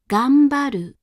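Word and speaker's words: 頑張る: Gambaru, gambaru, gambaru. Sanma, sanma, sanma. Again, before P, B, and M, the hatsuon is said as an M.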